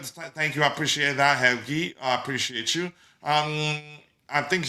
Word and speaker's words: Helgi: And Helgi Helgi, because we have one of our hosts here is called Helgi. I think he says it's pronounced Helgi. Helgi, I think Serbian.